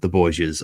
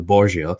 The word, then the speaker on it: Borgia: But the Italians don't use J in their alphabet, so essentially their Spanish name is Borja. But Italians can't A, they don't use J, and B, they don't pronounce H in isolation. So hence we have this transliteration essentially of the family name from Borgia to Borgia, and it's why sort